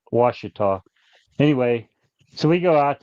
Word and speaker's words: Ouachita: yeah, That's how they pronounce it. It's Ouchita, I think, yeah. but they pronounce it Ouachita.